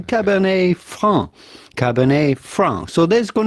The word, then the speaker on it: Franc: But for the typical French pronunciation, you do not want to pronounce the C at the end of Franc because it is silent in French, as many last letters of words are just like the T of Cabernet.